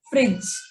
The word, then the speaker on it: fridge: In fridge, the D is silent. The E is also silent since it's at the end of the word. So we just say it as fridge, pledge, hedge.